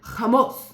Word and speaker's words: hummus: And she said, "Hummus," like this.